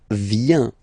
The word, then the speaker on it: vient: Okay, then il, elle, vient, final T not pronounced, il, elle, vient.